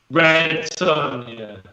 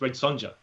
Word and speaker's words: Red Sonja: Red Sonja.